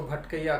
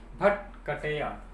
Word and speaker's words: भटकटिया: भट और गांव में जनरली जो प्रोनाउंसिएशन है वो थोड़ा गलत ही करते हैं ना, तो इसको भटकैया कहते हैं। तो है क्या, भटकटिया।